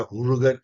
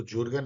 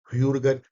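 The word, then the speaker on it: Jürgen: तो आप इसको कभी मत भूलिएगा, हुर्गन हैबरमास। यस, इसको जुर्गन नहीं पढ़ा जाता। मेरी प्रोनाउंसिएशन वैसे ही खराब है, लेकिन कुछ प्रोनाउंसिएशन मैंने सीखने की कोशिश की है। ह्यूर्गन हैबरमास।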